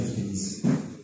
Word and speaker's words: prémices: Que Dieu m'aide prémiss prémiss faut bien le prononcer prémis sinon prémissant nous ce mot